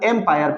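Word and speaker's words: empire: इन दोनों में डिफरेंस है, इन दोनों के प्रोनाउंसिएशन में, साउंड में थोड़ा सा डिफरेंट है।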